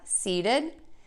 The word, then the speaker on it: seated: When we have the word seated with the T sound, seat, because we have a voiced sound here and then this ED ending, we are going to change that T to a D.